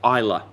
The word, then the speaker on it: Islay: father-in-law, like the Bowmore, which is pronounced Isla, okay? Not Islay. It looks like Islay, but that's the Scottish trying to be annoying.